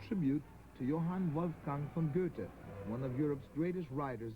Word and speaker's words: Goethe: about time we americans learn to pronounce his name correctly it's not girthy but goethe i think he'd appreciate